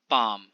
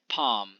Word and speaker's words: palm: सो इसका साउंड क्या है, सो साउंड अगर देखा जाए तो इसमें प है, आ है एंड म है। palm, p a and m, palm, it's palm, right।